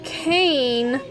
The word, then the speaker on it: cane: I'm trying to spell cane with a long A, so I have to put a silent E on the end.